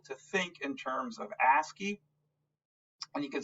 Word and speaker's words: ASCII: And you can see that, again, the American Standard Codes for Information Interchange is called ASCII, A-S-C-I-I. It's pronounced ASCII, and that's all.